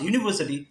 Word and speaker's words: university: Because when you pronounce university, that sounds as U, which is a semi-vowel.